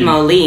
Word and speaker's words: Moline: Says Moline. That's the right way to say it.